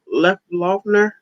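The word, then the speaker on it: Loeffler: i don't know how to say her name left loughner that's how you say it laughter and purdue and those two don't get in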